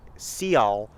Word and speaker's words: Sealth: of Chief Seattle, which his name wasn't Chief Seattle. It was like Seal, but the settlers were like, we can't pronounce that. We're just going to call him Seattle.